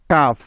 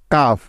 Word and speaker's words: calf: Next F এর আগে এল সাইলেন্টের উদাহরণ। যেমন হাফ, HALF, হাফ। কাফ, CALF, কাফ।